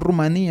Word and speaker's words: Rumanía: llana, viene del albanés; o Rumania, o Rumania, que mantiene en la pronunciación Rumanía, es la pronunciación la propia lengua, del rumano; o casos como que